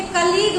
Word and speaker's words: colleague: अब देखिए कलीग में जो अंत में UE है वो साइलेंट है, जी तक ही तो आप प्रोनाउंस कर रहे हैं, तो जी तक ही उच्चारण कर रहे हैं, लेकिन UE साइलेंट है, वही ध्यान रखना है, ठीक है।